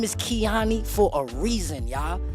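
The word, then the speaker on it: Keyone: B, my name is Keani for a reason, y'all. My name is spelled K E Y O N E. That's key one, But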